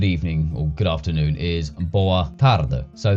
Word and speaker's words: boa tarde: So, for example, say good evening or good afternoon is boa tarde. So, the last syllable, uh, is dropped to a schwa, which is a uh sound, boa tarde.